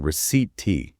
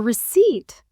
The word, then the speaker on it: receipt: She kept saying receipt tea. For receipt? Yeah, she didn't realize the P is silent.